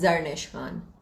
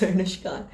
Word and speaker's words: Zarnish Khan: Please pronounce your name. It's Zarnish Khan. A lot of people call it Zarnish, and that pisses me off. But it's Zarnish Khan.